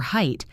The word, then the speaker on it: height: For height, remember that the word ends in a silent ghost. You see the letters G-H-T, but the G-H is invisible. Just height. Rhymes with kite.